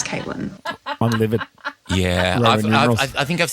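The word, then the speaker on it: Cviiilyn: So it was C V I I I L Y N. That would be pronounced civilian. The V I I in her name was actually Roman numerals. So that was an eight. So her name was Caitlyn.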